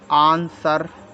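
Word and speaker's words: answer: ऐसे आंसर ए एन एस डब्लू ई आर आंसर डब्लू तो silent है रंग डब्लू आर ओ एन जी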